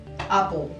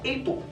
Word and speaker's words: Apple: Pero ¿por qué se pronuncia Apple y no Apple? Siendo que la A en inglés se pronuncia A. Bueno, por las reglas que les digo que existen en inglés. Hay una regla en inglés que dice que si después de la vocal le siguen dos consonantes, entonces esa vocal pasa de largo a corto.